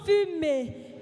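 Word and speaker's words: fumet: Qui cuisait, C-U-I-S-A-I-T, dégageait, D-E-G-A-G-E-A-I-T, un bon fumé, F-U-M-E-T. Hein, c'est pas comme la fumée à son aigu E muet.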